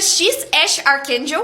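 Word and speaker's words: X Æ A-12: Não dá pra esquecer o nome do filho do Elon Musk, que é XAEA-12, mas que pronuncia X Ash Archangel.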